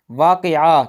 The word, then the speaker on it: واقع: بلکہ وابستہ ہوتا ہے۔ واقعہ کہتے ہیں یعنی میں نے یہ کام واقعہ کیا، یعنی یہ واقعہ ہوا، بلکہ یہ واقع ہوا، لفظ واقع ہوتا ہے۔ اسی طرح